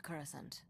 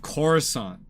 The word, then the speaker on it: Coruscant: Number one is the pronunciation of Coruscant. Like, everybody in the movie says Coruscant. In this game, everyone says Coruscant, Coruscant, Coruscant, Sint instead of Sant. It's a big difference and it annoys me, and probably only me.